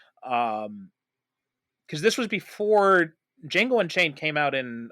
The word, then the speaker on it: Django: in he was in Jango and chain that his great his great cameo in Jango and chain when Jamie Fox spells his name and he's like the D is silent Fran oo's just like